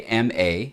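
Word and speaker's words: mā: This character right here is pronounced ma. Now, there are a lot of characters that could be pronounced ma, but this one means mother.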